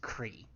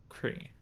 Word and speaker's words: Croi: But yeah, the CROI is pronounced Cree. Cree.